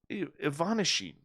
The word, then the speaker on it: Ivanishin: found when cosmonaut anatoly ivanishin ivanishin you see that nice russian pronunciation there broke open a tea bag oh no it's ivanashi okay second syllable gets the gets the heavy pronunciation anyways they opened a